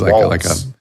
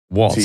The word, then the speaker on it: Walz: Is it Walsh? Is it Waltz? It's Waltz. Waltz. Waltz, like a dance.